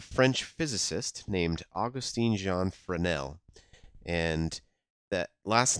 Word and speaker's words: Fresnel: name of a french physicist named Augustin Jean Freneau and that last name is spelled f r e SN e L and you might think that's pronounced Fresno but it's actually from nel because it's French anyway so this French physicist